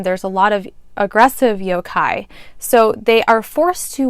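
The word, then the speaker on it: yōkai: So yokai is how it's pronounced, I believe.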